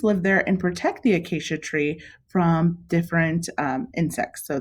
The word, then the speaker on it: acacia: have ants on the i always want to say acai but it's acacia ants on the acacia